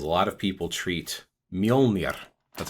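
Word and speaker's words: Mjölnir: common example is a lot of people treat mjolnir that's how it's pronounced mjolnir or thor's hammer is a symbol a lot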